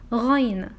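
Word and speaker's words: غين: This letter is ghayn. It is noon sound also at the end of this name.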